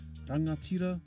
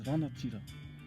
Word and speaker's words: rangatira: So if we take the word rangatira, you can hear the ng sound in there, although in Tūhoe or Eastern Bay of Plenty they might pronounce it as ranatira, not really pronouncing the ng as much and preferring a n sound. Kaitahu or Te Waipounamu, they sometimes change the ng sound to k, so they might say rakatira as opposed to rangatira, which is quite